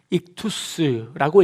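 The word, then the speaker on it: ἰχθύς: 원래 이 문양은요, 익투스라고 읽습니다. 익투스는 그리스어로, 헬라어로 물고기라는 그런 단어입니다.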